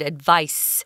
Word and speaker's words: advice: listening carefully you heard Tom pronounced the verb as advised with a Z but the noun form is an S sound advice it's also spelled differently